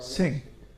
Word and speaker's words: Singh: Ah, And Singh, I don't know how to pronounce that name. Singh, yeah.